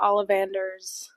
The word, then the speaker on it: Ollivanders: And yeah, Ollivanders.